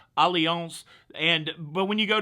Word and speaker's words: Allianz: a company called allianz it's spelled like alliance with a z allianz and but when you